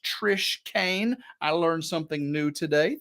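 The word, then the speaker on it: Trish Keane: That's Keane, pronounced Trish Kane.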